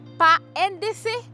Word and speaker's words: PANDC: Est-ce que je dis PANDC? PANDC? Non. PANDC, parce qu'il s'agit d'un sigle et non d'un acronyme.